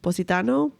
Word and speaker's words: Positano: Positano, I think.